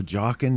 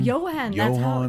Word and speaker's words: Johan: Jockin', Yokin, Johan. Johan. That's how you do it.